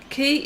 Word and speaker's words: kea: Key is a bird, and it is being pronounced like IKEA. Oh, as in Kia.